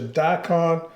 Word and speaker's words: daikon: One of them's called a radish, a daikon. Right. Is that pronounced?